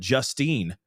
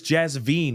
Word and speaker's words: Jasveen: Because Jasveen, I thought they said Justine or Justine, okay? But it's Jasveen with a V, right?